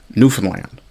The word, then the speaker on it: Newfoundland: really the proper pronunciation is nof is that's that's where your your your stress your um emphasis would be is on nofen land which is potentially part